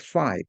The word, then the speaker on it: phi: It's pronounced phi, P-H-I.